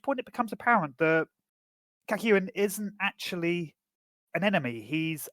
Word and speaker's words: Kakyoin: Am I pronouncing that right? Kakyoin? Kakyoin. Kakyoin. That's how they pronounce it in the anime.